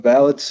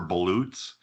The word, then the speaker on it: balut: So Wisconsin is currently the only state in the country that has a specific rule for ballots. Balut is how you say it.